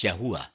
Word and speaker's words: YHVH: using the English letters yhvh or the Hebrew letters yote Buffy pronounced as yahuwah instead of the Lord